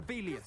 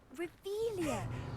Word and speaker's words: Revelio: You're Rebellious. saying it wrong. Ugh, Revelia. Much better. Oh, shut up. Wait. Revelio.